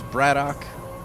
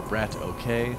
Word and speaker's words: BratOK: In the red from the team IMBA FXO, it is Bratock or Brat. Okay, if you want to pronounce it wrong.